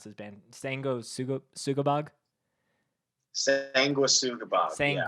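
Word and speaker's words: Sanguisugabogg: So on the list that James sent me was I always never know how to pronounce his band. Sugabog. Sanguis Sugabog. Yeah. Sanguis Sugabog.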